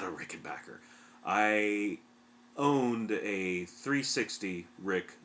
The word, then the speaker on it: Rickenbacker: not a rickenbacker and that is the correct pronunciation by the ways rickenbacker which just sounds wrong it sounds like you're from maine or new hampshire or something you know i had